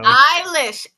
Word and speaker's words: Eilish: Eilish. Look, if it's then take the E off. Then take the E off. I'm tired of it being silent.